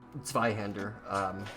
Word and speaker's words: Zweihander: Zweihander.